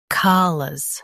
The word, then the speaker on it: callous: Today we will learn how to pronounce the word shown on the screen, CALLOUS. Both US and UK have the same pronunciation of this word. Stress ka, keep lus soft and quick.